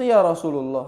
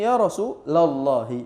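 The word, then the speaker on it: يا رسولَ الله: Masa ya Rasulullah harusnya ya rasulallahi minimal.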